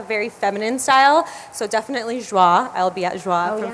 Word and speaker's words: Joie: Joie. It's like, what is that? It's not Joya.